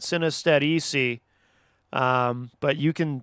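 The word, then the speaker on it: Sinestetici: it's spelled s-i-n-e-s-t-e-t-i-c-i so i'm choosing to pronounce that synostetic um but you can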